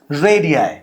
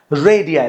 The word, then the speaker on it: radii: Now plural form की अगर बात करें, सो okay, first of all correct the pronunciation. This is radii, this is radii, the pronunciation is radii.